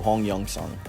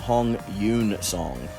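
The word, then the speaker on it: Hong Yoon-seong: So his name, that's how it's pronounced with Hanja, which is the Korean pronunciation of the Chinese characters. That's literally what that means. But in Hangul, which is Korean language, his name is actually pronounced Hong Yoon-song. So Yoon-song is actually the way you're properly supposed to pronounce his name.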